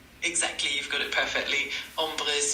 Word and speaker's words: ombre: Umbre is spelled O M R E.